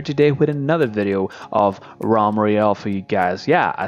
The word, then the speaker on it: Realm Royale: and I'm here today with another video of ROM Meriel for you guys yeah I said it right this time ROM Royale some people have been somehow complaining for the